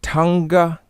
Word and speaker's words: Tanakh: fold two i explained the word tonga being the proper pronunciation of the word tanakh and um i also